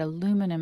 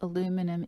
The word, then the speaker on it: aluminum: Is there any reason to believe that aluminum, and I'm going to persist in my American pronunciation, I welcome your British pronunciation, is there any reason to suspect that aluminum is involved in breast cancer?